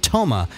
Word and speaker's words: TOMA: term, and it's called TOMA, and that stands for top of mind awareness. And I always thought it was interesting that happened to rhyme with coma.